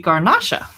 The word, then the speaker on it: Garnacha: Yes, it's a French, or if it's a Spanish grape, it would be Garnacha from Oh, Spain.